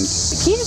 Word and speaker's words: Kyiv: Kiev, but how do you say it? Go ahead, Kyiv. say it. Kyiv.